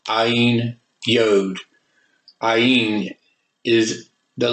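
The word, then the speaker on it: עַי: AI in Hebrew is pronounced I, as in the all-seeing eye.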